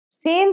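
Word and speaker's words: سين: Sin sounds just like the English S. It's very easy to pronounce.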